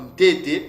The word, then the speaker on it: Ntete: Nteta Bilumbu, Nteta Yuma, Ntete, ça s'écrit avec ça s'écrit avec le yod, mais ça se prononce avec le E, avec un son du E.